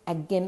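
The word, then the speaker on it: Aachen: i was sent to again this is a a c a-c-h-e-n but it is pronounces again or in german it's ag to stay with a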